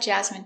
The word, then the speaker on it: jasmine: jasmine tea very good so remember these special words ending with i n e we pronounce them all the same in in remember medicine margarine intestine or intestines more than one genuine famine remember it's countable a famine famine and Jasmine hello welcome to English for